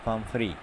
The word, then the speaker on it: Pumphrey: Pumphrey, the pronunciation is Pumphrey, worried about Tricky?